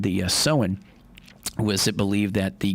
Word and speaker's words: Samhain: Yeah, the origins date back to ancient Celtic festival of Samhain, or Samhain, that's how you say it.